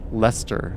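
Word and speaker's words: Leicester: i have no idea it's pronounced lester so you know mate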